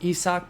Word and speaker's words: Isaac: him out as well so there it is isaac i know it says isaac there for most of y'all but it's actually pronounced isak paredes and he is the tigers team affinity